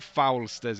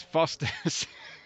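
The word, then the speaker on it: Foster's: It's not Foulsters, it's Fosters. Yes, but yeah, the GT4, the Porsche actually handled pretty well, even in hands as pathetic as mine.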